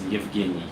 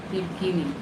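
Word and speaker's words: Евгений: In Belarus, my name is Evgeny. Yevgeny.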